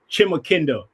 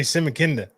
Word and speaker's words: Chimakinda: So the proper pronunciation is Chimakinda, Lance Chimakinda. Okay, even I'm saying it wrong then. I say Simakinda.